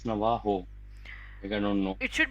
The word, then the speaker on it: Navajo: know it should be Navaho I would say I don't know the exact pronunciation again but it should be Navajo because they don't pronounce most of the cultures don't pronounce j s j okay so most of